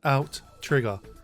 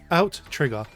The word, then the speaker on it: Outtrigger: Today, we're looking at Outrigger. Outrigger. Out. Trigger. It's Outrigger, although my brain wants to say Outrigger every time. It is in fact Outrigger. There's two T's, you see, a double T, if you will.